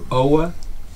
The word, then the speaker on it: Aage: My first name, A-A-G, nobody knows how to pronounce it. And it's just phonetically O-W-A. And Danish people probably pronounce it a little different.